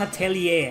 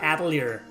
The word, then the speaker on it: Atelier: the ass of destiny atelier it is pronounced atellier not atier Iris 2 the asset